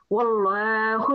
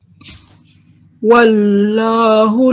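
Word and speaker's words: وَاللَّهُ: Also, pronounce this lam because it's lamul jalala. It's preceded by a fatha. So we will pronounce it with a round mouth, so with a round sound.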